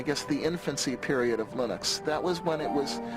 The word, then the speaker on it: Linux: And I really don't care how people pronounce my name. But Linux is always Linux.